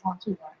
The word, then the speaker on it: Ottawa: It is a hard pronunciation. Toronto and Montreal are much easier to say than Ottawa.